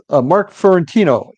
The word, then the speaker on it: Fiorentino: My guest, Mark Fiorentino. Am I pronouncing that correctly, Mark?